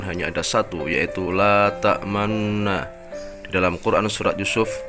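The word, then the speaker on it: تَأْمَنَّا: Menurut Imam Hafiz, di dalam Al-Quran hanya ada satu, yaitu la ta'manna di dalam Quran surat Yusuf ayat 11 juz 12.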